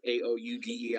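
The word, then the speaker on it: Aoude: as the Aoud case, A-O-U-D-E, I believe is pronounced Aoud case, indicates that it has to have broad powers to manage the proceedings.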